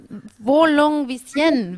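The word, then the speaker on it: Volungevičienė: do it herself, because it's Volungeviciene when I do it, but I'm sure that's wrong. Is it right? Yeah? Okay. Yes. Okay. Do you want to say it yourself? Airina Volungeviciene.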